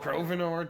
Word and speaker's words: Grovenor: Grovenor, just to rhyme with swore and more.